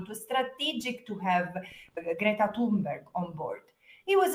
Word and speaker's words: Greta: It was strategic to have Gret Greta, that's how you say her name.